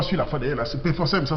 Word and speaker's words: Pforzheim: Il m'écrit de l'Allemagne, dans la ville de Pforzheim, la même ville que je n'ai pas su la fois d'ailleurs, c'est Pforzheim, ça s'écrit P-F-O-R-H-E-I-M.